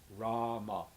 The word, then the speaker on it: Rama: Rama means the source of all enjoyment, and it's Rama, rhyming with drama.